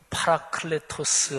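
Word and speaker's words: παράκλητος: 2보 회사라는 단 합니다 헬라 원어는 팔아 클레 토스 하고 발음 해요 원래 변호사 상담자 또는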